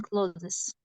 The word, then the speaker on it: clothes: too much money on closes she doesn't need new clothes on CL in close pronounce it as the verb close it's not cloes it's closed okay Mrs Mrs Mills